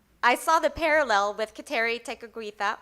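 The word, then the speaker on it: Kateri Tekakwitha: saw the parallel with Keri teita or geli deag which is the Mohawk pronunciation of her name once ceri met our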